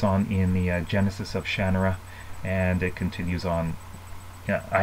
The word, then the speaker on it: Shannara: I know some people say Shannara. That's what they say in the TV series, but Terry Brooks, he says it's pronounced Shannara. I have seen a few of his talks, and he calls it Shannara.